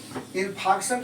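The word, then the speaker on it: infarction: तीन फंक्शन इन fact इन प्रोडक्शन बोलते हैं आर के साइलेंट करके बोला होता है तो है जाएंगे है ना इन फंक्शन किसको बोलते हैं जैसे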